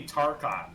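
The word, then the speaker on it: Tarchon: a mouthwash wait wait by that spelling it would be tarkon it would be pronounced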